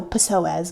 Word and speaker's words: psoas: wrong with me is my psoas. That's not how you say it, but you know, there's a P in there, and I'm not cool with just ignoring letters. I'm just kidding. Okay, so psoas muscle, and this is